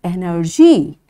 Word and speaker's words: energy: Again the rule, Y is there, that's why it will be soft G and it's energy.